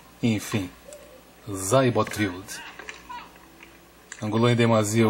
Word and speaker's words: Seyboth: do brasileiro, Thiago Seibotwild, porque Seibot foi a pronúncia que ele gravou para a ATP. No seu perfil tem o ícone para ouvir a pronúncia do nome dele, e ele falou Seibot ao invés de Seibot, portanto um S com um som de Z Enfim, Zybotrild.